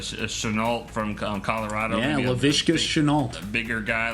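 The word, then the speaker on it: Shenault: Help me with the pronunciation here. Chenault from Colorado. Yeah, Laviska Chenault.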